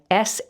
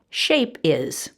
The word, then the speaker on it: shapes: they see words like s-h-a-p-e-s and instead of pronouncing its shapes they chop off the end suffix es and they pronounce it shape is or shap is and we have to